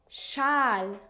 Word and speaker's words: Schal: In other words, when you see SCH, you always pronounce it like sh. For example, fish, fish, Schal, scarf, Mensch, human.